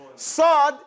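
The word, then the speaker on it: صاد: Sad is pronounced by taking your tongue, putting it flat in your mouth. It doesn't come off the lips, so you make a smile with your teeth and say us.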